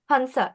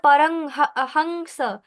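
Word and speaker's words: পরমহংস: বলছি না পারং হংস, এভাবে বলছি না, বলছি পরম হংস।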